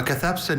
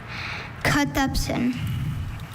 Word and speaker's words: cathepsin: A cathepsin is an enzyme that is involved in the breakdown of proteins within cells, sometimes resulting in damage or disease. Cathepsin. Are there any alternate pronunciations? There's cathepsin and cathepsin.